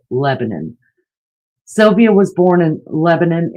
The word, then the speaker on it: Lebanon: Sylvia Likens was born in Lebanon, and don't think I'm pronouncing it wrong. I know some places are Lebanon, and that's the way that it is spelled, but Hoosiers call it Lebanon.